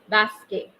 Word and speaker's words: basket: Please pay attention to the pronunciation. Le basket. Then le foot.